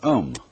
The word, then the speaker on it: Om: One of the basic mantras is, of course, the sound Om. That sound is used because if you spell it out, A-U-M, it runs from the back of your throat to your lips, and therefore it contains the whole range of the voice.